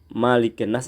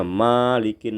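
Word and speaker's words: مَلِكِ النَّاسِ: biasanya anak-anak itu yang malikinnas ini bacaannya bisa mligine situ salah ya gol a'udzu birabbinnas malikinnas itu Maya pendek dan setiap ada Nun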